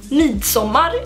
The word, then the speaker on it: Midsommar: So Midsommar is how you say it in Swedish, and that would translate to Midsummer in English.